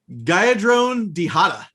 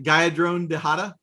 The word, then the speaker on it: Geyadrone Dihada: That is Geyadrone Dihada. Did I get that right? Geyadrone Dihada?